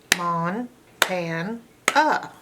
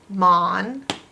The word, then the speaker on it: Montana: If this was normal phonetics, this A would say A, so you'd have Montana, but that's not how it's pronounced. It's an open A that's not accented with its A sound. It's making a sound, so it's a schwa.